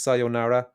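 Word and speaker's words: さようなら: with a Yeah, because it's it's elongated in Japanese. It's so in Japanese, every syllable gets equal weight. So it's sayonara. If you spell it your way, it would be sonara, but when you say it, it's like slightly longer.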